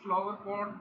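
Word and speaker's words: flowerpot: It is pronounced as a unit with a single main stress.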